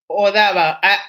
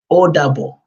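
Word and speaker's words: Ó dàbọ̀: Odaba. Odabo. Oh, that's a Spanish. The first time we pronounced it was a very Spanishy. This time we need to make it more Nigerian. Odabo.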